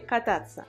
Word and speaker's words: кататься: Où est l'accent tonique? Кататься, кататься. L'accent tonique est ici.